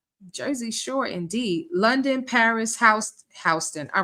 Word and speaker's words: Houston Street: There actually is a street in New York called Houston, and some people say Houston Street, but it's pronounced Houston.